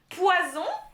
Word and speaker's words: poison: single single s so the double s is like a snake sound and the one s it's a b sound z or sleeping sound right jade zu so we have poison versus poison so you